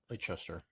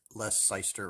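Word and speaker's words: Leicester: i really like red lachester that's well i'm pronouncing it correctly it's not less seister or anything like that but so last night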